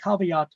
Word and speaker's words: caveat: way but when you talk to people say cavat all right uh it means let the buyer